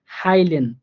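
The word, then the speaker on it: heilen: আই এর মতো করে, এটার উচ্চারণ হবে আই এর মতো করে। যেমন হাইলেন, হাইলেন, দেখেন হাইয়ের পরে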